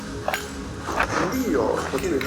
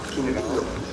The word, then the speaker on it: Quindío: Quindío. Thank you, Franklin, for teaching us how to do the pronunciation of Quindío.